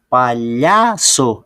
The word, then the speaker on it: palhaço: Ó, palhaço é o lhá. É o lhá que é a sílaba tônica.